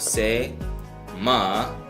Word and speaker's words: སེམས: Sa, jangpo, se, ma, sa, sem, okay? And we don't pronounce this sa.